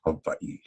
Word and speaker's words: Hawaii: The correct pronunciation is Hawaii.